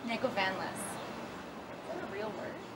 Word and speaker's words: Negovanlis: Negovanlis.